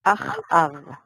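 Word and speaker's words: אחאב: En hebreo se pronuncia Achav.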